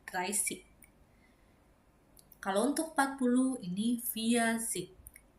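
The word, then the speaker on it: dreißig: Untuk 30 ini bukan Reibig, tapi Reisig. Ya, Reisig.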